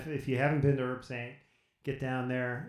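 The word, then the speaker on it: Herbsaint: over here, and I don't know if I'm pronouncing that correctly. Is it Herb Saint? Yeah. Herb Sante in French.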